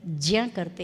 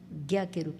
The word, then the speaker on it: ज्ञ: संस्कृत के विद्यार्थी इसका उच्चारण ज्ञ करते हैं लेकिन हिंदी में उसका उच्चारण ज्ञ के रूप में किया जाता है।